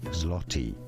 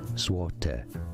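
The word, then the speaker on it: złoty: Well, in English this is generally said, in all fairness, as zloty, zloty, the Polish zloty. But in Polish, this is said as złote, złote, Złote.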